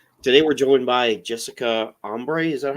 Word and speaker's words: Embree: Today we're joined by Jessica Embree. Is that how I pronounce it? Is that correct? Close, Embree.